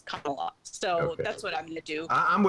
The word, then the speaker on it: Kamala: name but i think the correct thing to do is pronounce the name that she pronounced the name her name the way she pronounces it which is kamala so that's what i'm